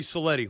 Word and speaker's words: Cellitti: Well, without further ado, we're happy to bring on our guest, uh, strength condition outside of Pittsburgh, Coach Anthony Cleti.